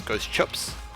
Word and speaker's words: Ghost Chips: Ghost Chips, of course, being a Kiwi, so the correct pronunciation of his name is Ghost Chips.